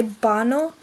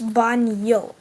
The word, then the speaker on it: baño: Most American people would just say bano because, well, that is technically how you pronounce it in America. But in Spanish-speaking countries, you would say ¿Dónde está el baño? It's baño, not o.